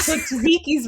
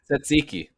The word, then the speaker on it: tzatziki: it's too difficult but zuziki's wrong tzatziki tzatziki hear me out just google it candace and listen to the pronunciation no steven no it's